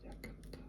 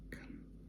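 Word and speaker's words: 館: Why do I have to use yakata? This one, the Chinese pronunciation is kan, and it's used in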